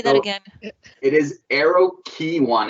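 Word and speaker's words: Aeroquay: do have to fully admit that it's not eroque but it's pronounced arrow key i betcha a real airplane enthusiast brought that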